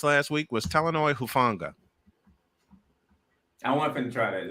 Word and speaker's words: Talanoa Hufanga: By the way, Playmaker, The name you were looking to pronounce last week was Talanoa Hufanga.